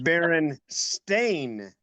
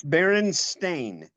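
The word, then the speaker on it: Berenstain: Actually, you don't really It's Baron Stain. Oh, Jewish. It's what? She said they were Jewish. It's German. No, no, it's Baron Stain.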